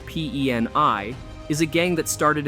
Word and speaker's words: PEN1: Public Enemy Number 1, often shortened to PEN1 or pronounced PENI, is a gang that started in the 1980s in Long Beach, California.